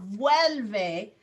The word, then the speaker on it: vuelve: You're just uncertain about pronunciation. Vuelve is the conjugation.